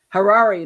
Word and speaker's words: Harari: his name that's it he was Harari like the Ferrari only within AG that's what he told me